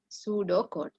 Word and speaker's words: pseudocode: The P is silent, okay? Pseudocode.